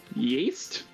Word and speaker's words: Ys: Yeast? No, not yeast. Yeast. Y-S. Yeast? It's pronounced yeast. Yeast! Yes, I can speak Kobold. Yeast! Yip, yip. It's yes without the E.